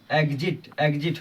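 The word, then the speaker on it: exit: जैसे EX के बाद I आया तो एग्ज, एग्जिट हो गया।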